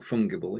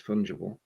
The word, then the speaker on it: fungible: we've got correct pronunciation it's not fungible it's fungible uh john's busy at